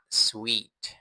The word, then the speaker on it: suite: อีก รอบ นะ ครับ ผม คำ ๆ นี้ อ่าน ออก เสียง ว่า sweet sweet ให้ จินตนาการ คำ ว่า รส ชาติ หวาน นะ ครับ ผม Sweet มัน เป็น คำ พ้อง เสียง กัน ของ คำ นี้ นั่น เอง นะ ครับ Sweet ไม่